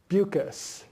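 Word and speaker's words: Beukes: Oh, Zoo City by Lauren Bucas, which isn't spelled the way it's pronounced, but if you Google Zoo City Lauren, you'll find it.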